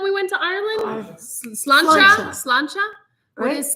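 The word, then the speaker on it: Sláinte: was it when we went to Ireland slanta slancha what is slant am I saying it right please tell me Scottish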